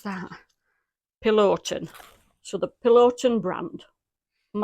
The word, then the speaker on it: Peloton: Peloton. So the Peloton brand. Am I saying that right? Peloton. Oh, Peloton. So it's Peloton.